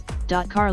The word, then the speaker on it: Qatar: Qatar, about this sound listen, Car local vernacular pronunciation, officially the state of